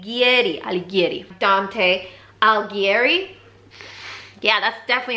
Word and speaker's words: Alighieri: say that Ali Getty I'll get it Dante Alighieri yeah that's definitely how you pronounce that name but basically look this is